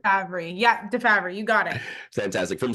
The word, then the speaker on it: DeFabry: Yeah, DeFabry, you got it.